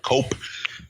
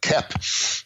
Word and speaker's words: Koepp: It's not Cope. It's Kep.